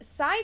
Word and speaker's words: Psy: seen anywhere else and that's spelled s y like psi fabrics so yeah check them